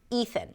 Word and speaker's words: Ethan: Just make sure that you stick the tongue out for the th and you relax it so the air actually comes out as you pronounce the th. Ethan.